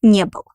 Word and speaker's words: не был: We take negative particle не, the main verb был, and pronounce it pronounce it like one word, and our accent falls on negative particle не.